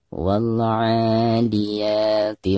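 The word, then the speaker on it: والعاديات: Perhatikan yang pertama, wal, alif lam harus dizahirkan atau harus dijelaskan. Karena dihukumi alif lam qamariyah. Ada alif lam, lalu di depannya ada merupakan salah satu daripada huruf qamariyah. Di sini ain ya. Maka cara membaca alif lam tersebut itu harus dizahirkan. Karena ada tanda sukun di atasnya ya. Wal-'a. Bacaan a di sini dipanjangkan 2 harokat.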